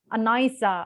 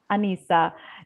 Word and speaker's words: Anissa: like um he he he hardly pronounced my name he said it's stewie say why or something like that or even worse he said that anaysa and i was like who is anaisa and after that oh that's not my name but you pronounce it wrong it should be anissa and yeah i have